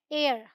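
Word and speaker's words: heir: ये है एयर, क्या है? एयर, हेयर नहीं है।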